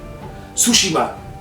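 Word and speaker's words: Tsushima: And I love Ghost of Sushima. Sushima, that's how they say it in the game.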